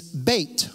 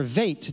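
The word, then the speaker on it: בית: The second letter is Beit, or Vait, depending on the word. It depends on how it's pronounced.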